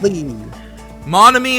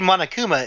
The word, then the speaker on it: Monokuma: is a serious stat Le monamy is a serious stat Le you kind of said that wrong it should be Monokuma is a serious to flatly no I think I said it right oh resume now you